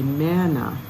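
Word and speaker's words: manna: up again and again Mana m-a-n like man so we say Mana please don't say mama it won't be understood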